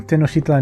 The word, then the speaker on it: Tenochtitlan: But apparently it's Tenochtitlan, because he pronounced the X's sort of as a sh sound, instead of a k or ch sound.